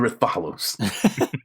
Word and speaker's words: Rathalos: The Rathalos. It's pronounced Rathalos.